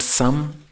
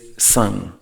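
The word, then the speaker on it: सं: So S or S with an anuswar, with a dot on top. So it is not sang, it is not sam, it is sang, with a very soft G.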